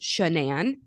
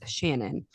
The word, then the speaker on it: Shanann: yes it is pronounced shenan I'm going to make sure I try very hard to say it that way it is not Shannon her parents apparently got